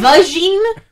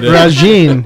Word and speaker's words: Regine: Did you say Vagine? Regine Moorhead. Regine. Yes. That's how it's spelled.